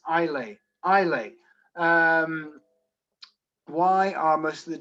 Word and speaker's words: Islay: Scotch whiskies, how do you pronounce Islay? Islay.